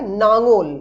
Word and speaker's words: লাঙল: যেমন লাঙল, সেটা উচ্চারিত হয় নাঙল, অর্থাৎ প্রথম লটি পরিবর্তিত হয় দন্ত নতে, কিন্তু খেয়াল করে দেখবে শেষ যে ল সেটা কিন্তু অপরিবর্তিত থাকে, অর্থাৎ লাঙল কিন্তু নাঙন হয় না, নাঙল।